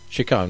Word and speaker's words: Chaconne: Is it pronounced Chaconne? Chaconne. Chaconne, right, yeah.